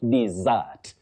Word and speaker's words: dessert: Well, what we should avoid saying, especially in careers of serious communication, we should not say dessert or dessert. No, it is dessert. The dessert for pudding, dessert. That is the correct pronunciation, Betty.